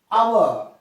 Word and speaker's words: hour: An hour, an hour, hour, an hour. So an is, this is also H is silent, O-U-R is pronounced.